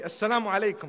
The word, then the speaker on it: Assalamu alaikum: What did you say? You just heard the koom at the end, you know? Say it properly. Assalamu alaikum, my brother.